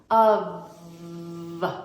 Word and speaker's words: of: sure first of all we pronounce it with a v instead of an F makes a little Buzzy sound like a fly with your top teeth resting gently on your bottom lip of of so the first